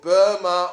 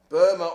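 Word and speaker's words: Burmah: There was the most famous case where that was done was a case called Burma Oil against Lord Advocate. Burma Oil, spelt with an H on the end, B-U-R-M-A-H.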